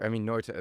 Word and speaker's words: Emmy Noether: Yeah, so Emmy Noether, or Emmy Noether, that was a great German pronunciation.